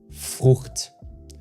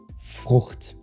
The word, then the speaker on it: Frucht: And the tricky part here is that you don't pronounce CH like the CH in chair. If I had to describe it, it's more like a hiss in the back of your throat.